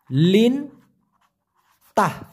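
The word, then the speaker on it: lintah: সেটাকে আবার বলা হয় লিন তাহ লিন তাহ উচ্চারণটা হবে লিন তাহ লিন্তা মানে হচ্ছে পানিযোগ আর যেটা উপরে থাকে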